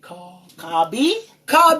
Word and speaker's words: Carbi: Even though you and, listen, how do you pronounce it? CARBI.